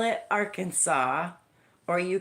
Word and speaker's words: Arkansas: If you do not call it Arkansas or you call it our Kansas, you could be in serious trouble because you are legally required to pronounce it correctly. Arkansas, not our Kansas.